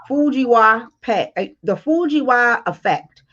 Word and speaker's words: Fujiwhara effect: Okay, when two hurricanes cross paths, it's called the Fujiwa effect, and it's spelled Fujiwhara effect, and that is what they are saying is what's possibly going to happen with these two hurricanes.